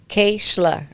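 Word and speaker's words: Keishla: It looks like all types of stuff, but it's pronounced Kishla.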